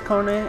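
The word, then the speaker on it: KONE: our main National partner K so many people pronounce it wrong Ki k whatever you could pronounce but it's pronounced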